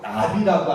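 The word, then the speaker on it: נביא: 여러분 예언자라는 말은요 히브리어로 나비라고 합니다. 나비가 뭔 말이라고요? 예언자. 예언자를 히브리어 말로는 나비라고. 나비. 다른 나비 있죠? 나비. 발음이 똑같아요.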